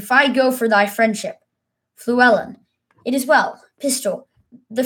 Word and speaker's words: Fluellen: I'm not sure how to pronounce that one. I'm going to look that up. How to pronounce because it feels like I've been saying it wrong this entire time. So let's find out.